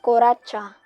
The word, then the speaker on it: kuratsa: is known as swinging next is kuratsa it is pronounced koracha it is a dance